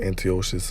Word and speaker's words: Antiochus: Basically defeating the forces that and Antiochus, okay, that's how you pronounce it, Antiochus Epiphanes, okay, Antiochus Epiphanes, okay, he was putting extreme hell, okay,